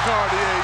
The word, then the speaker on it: Cartier: You can see it on their faces when Cartier Jara working against Cartier Diarra. Cartier Jara. Jara the steal. Exclamation point right there for Cartier Jara.